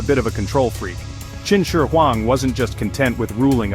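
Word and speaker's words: Qin Shi Huang: His name was Chin Sher Huang, pronounced Chin Sher Huang.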